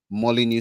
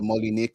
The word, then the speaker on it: Molineux: all the way to the Molly new stadium the Molly Nick stadium depending on how you want to pronounce it French or English and they'll be facing